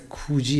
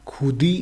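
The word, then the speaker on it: 굳이: और सिंपली इसी में भी द आता है अगर नीचे में ये तिगत जो है और इसके बाद ई आ रहा हो तो इसका प्रोनाउंसिएशन सिंपली जी हो जाता है. जैसे खूजी एक वर्ड है, अभी यहाँ पे खुदी होना चाहिए पढ़ने में लेकिन ये खुजी होता है.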